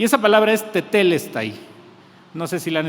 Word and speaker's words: tetelesthai: con jugada esta palabra se se pronuncia de esta manera tetel está ahí esta palabra se encuentra